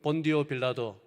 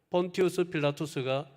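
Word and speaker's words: Pontius Pilatus: 저기에 티베리우스 황제를 위한 사원을 유대 총독 본디오 빌라도, 원 발음은 폰티우스 필라투스입니다. 폰티우스 필라투스가 세워서 헌정했다라는 그 글귀가 새겨져 있는 이 비석을 발견을 하였습니다.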